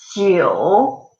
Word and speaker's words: 九: Try to pronounce ping. So quite similar to the sound in J. This 九 G U 九 okay, so repeat after me one more time.